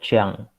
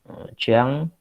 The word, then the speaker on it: Jean: Jadi, tulisannya kalau Rousseau ini namanya diawali dengan huruf J, kemudian E, A, dan N. Itu bacanya Jiang. Jiang itu kan akhirannya kan sengau itu.